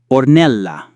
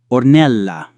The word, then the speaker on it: Ornella: In most words, the stress main accent falls on the next to last syllable. Ornella, Ornella, Ornella, Oruro, Aruro, Arthur.